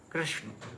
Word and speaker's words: कृष्ण: हल्का सा इसमें और हल्का सा इका का उच्चारण जैसे कृष्णा तो कृष्णा तो हल्का सरकार भी उसमें ए